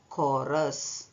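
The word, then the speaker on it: chorus: ಚ ಉಚ್ಚಾರಣ ಲೆಕ್ಕದಲ್ಲಿ ಬಂದಿದೆ ಇವತ್ತು ಕ ಉಚ್ಚಾರಣ ಲೆಕ್ಕದಲ್ಲಿ ಬರೆಯುವ ಪದಗಳ ಬಗ್ಗೆ ನೋಡಲಿಕ್ಕೆ ಇಷ್ಟಪಡುತ್ತೇನೆ ಸಿಎಚ್ ಓ ಐ ಆರ್ ಕಾಯರ್ ಸಿಎಚ್ ಓ ಆರ್ ಯು ಎಸ್ ಕೋರಸ್ ಟಿಇಸಿಎಚ್ tech ಟಿಇಸಿಎಚ್ tech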